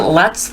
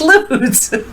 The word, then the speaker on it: Lutz: light shine on everything so i think they pronounce it luts though in the states i don't think they pronounce it lutz i've heard some people pronounce it luts and i'm like no it's loots my uncle robert um my pap's brother his